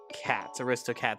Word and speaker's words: Aristocats: Aristocats, like aristocrats, but it's cats to the crats.